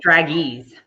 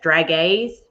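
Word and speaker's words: dragées: is iris and y'all i would say drag ease but i know that's not how you say it it's d-r-a-g-e-e-s drag a's it's so good it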